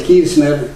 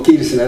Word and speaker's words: Kirzner: 1871 comienza con Karl Menger, con von Bauer, Ludwig von Mises, Hayek citado acá, Israel Kirzner, digo Kirchner, hay que pronunciarlo bien para no equivocarse con Kirchner, es algo muy distinto.